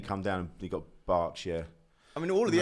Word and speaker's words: Berkshire: Berkshire.